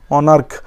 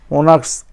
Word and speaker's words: monarch: কিন্তু যদি সেখানে সিএইচের উচ্চারণে কয় উচ্চারণ হয়, কে উচ্চারণে এসে যায়, তখন সেখানে হবে শুধু এস। যেমন ধরো অনার্ক, MONARCH, মনার্ক, ওখানে হবে অনলি এস, মনার্কস, MONARCHS, ওনাক্স, ওকে।